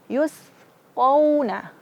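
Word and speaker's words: يُسْقَوْنَ: Yusqawna. Ko wa. Yusqawna. Yusqawna. Jangan sampai memanjangkan juga qauna, tidak.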